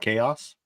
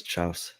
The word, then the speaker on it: chaos: to pronounce that word what chaos Oh I thought it was Chow oh chaos CHS CHS